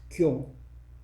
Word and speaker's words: 교: In Chinese, we write that the first word, I don't know in Chinese pronunciation, but in Korean it's pronounced kyo.